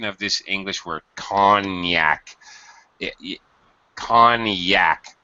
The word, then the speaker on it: Cognac: okay yes it is excellent notice the interesting pronunciation of this English word conac con Yak it's weird uh with the G and French